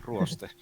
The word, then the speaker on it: Ruoste: Yeah, Ruoste. It's like Rust.